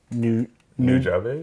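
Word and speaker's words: Nujabes: And so this is Samurai Champloo soundtrack 4 impression from New Jobs? New Jobs is how we're pronouncing it.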